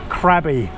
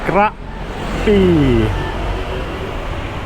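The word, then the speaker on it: Krabi: A lot of foreigners will say crabby for this one. It's actually grabby.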